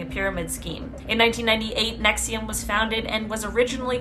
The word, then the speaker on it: NXIVM: front for disgusting crimes, NXIVM, which I believe is pronounced Nexium.